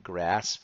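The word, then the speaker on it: GRSPP: funds our grass funds G R spp we're pronouncing that grasp for our nimonic then we have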